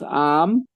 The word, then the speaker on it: amam: Como por ejemplo en ajan es rápido, pero cuando decimos amam, que es araña, se necesita 2 a despacito la pronunciación.